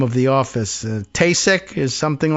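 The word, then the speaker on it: Taoiseach: Patrick's Day appearance in the White House in which the Prime Minister, we learned at one point how to pronounce the name of the office. Tasek is something like that.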